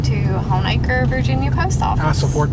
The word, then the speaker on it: Honaker: okay and i guess it just sounded like moniker homicker you know so it's han is gg hornaker what was that again it was hans jacob honaker john jacob no hans